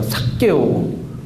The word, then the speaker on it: 삭개오: 삭개오. 느낌이 좋은가요? 삭개오. 계속 불러보세요. 삭개오. 엄청 짜증나는 그런 이렇게 막 이름처럼 이렇게 들리는데, 삭개오. 일단은 발음할 때 된 소리가 들어가면은 이게 목에서 한번 긴장이 생기잖아요.